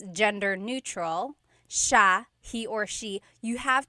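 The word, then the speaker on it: siya: It's sha sha. The s i y combination makes the sha sound in tagalog. Some regions say sa but in the luzon central luzon area in the tagalog region it's sha sha.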